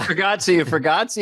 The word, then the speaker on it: Bargatze: And he said, hey, Nate Bargatze, is he a Nazi? He's not, but it rhymes.